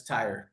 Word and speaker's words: Theurer: Looks like thor but it's tire.